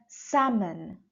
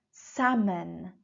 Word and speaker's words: salmon: you noticed I said salmon salmon L is not pronounced in this word organic organic organic refers